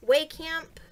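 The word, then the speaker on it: Wehkamp: meet I met Eric Vale I met Chris way camp I know how to say his last name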